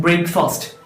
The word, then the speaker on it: breakfast: It is not breakfast. It is breakfast. Breakfast എന്നാണ് pronounce ചെയ്യാറുള്ളത്. First syllable break എന്നും രണ്ടാമത്തെ syllable fest എന്നും എന്നാണ് പ്രൊനൗൺസ് ചെയ്യാറുള്ളത്.